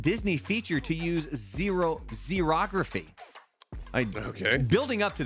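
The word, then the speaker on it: xerography: this it's it's uh spelled with an x x e r o graphy it's a technique that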